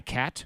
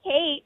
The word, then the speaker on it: Kate: Hi, Kat. I'm Kate.